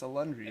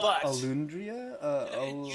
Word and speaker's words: Alundria: It's Alundria. I mean, it's pronounced exactly as it is. Yeah, but a lot of people are like Alundria.